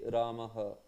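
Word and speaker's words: रामः: But if it is not there, that particular thing, so then the pronunciation will be slightly different, Then it will be Ramaha, Ramaha, like that.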